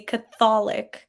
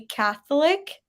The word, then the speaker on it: Catholic: A lot of people say Catholic, kind of put a little like Mhm. emphasis on the O, like Catholic. It's actually Catholic.